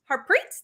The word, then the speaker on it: Harpreet: hear you and so um everyone please welcome harpreet did i pronounce that correctly yes you did so uh